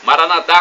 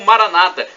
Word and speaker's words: Maranata: aramaico dialeto de Jesus Maranata como dizemos nós católicos o a tônica na última sílaba ou Maranata com a tônica na penúltima sílaba como dizem nossos irmãos separados os evangélicos não importa somos todos